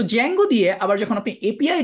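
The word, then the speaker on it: Django: তার মধ্যে সবচেয়ে পপুলার চয়েস হচ্ছে জ্যাঙ্গো। আমি একটু দেখাই আপনাকে। এইটা হচ্ছে জ্যাঙ্গোর ওয়েবসাইট। এটার প্রথমে একটা ডি আছে। ডি টা হচ্ছে সাইলেন্ট। এই ডিটা উচ্চারণ হয় না বা এরকম ভাবে কেউ বলে না। ডিজেঙ্গো।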